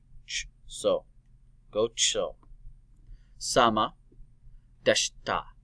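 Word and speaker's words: でした: Deshita. Deshita. The I is silent on that too.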